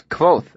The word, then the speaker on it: Kvothe: "It's Kvothe, actually," I said absent-mindedly. "The E is silent."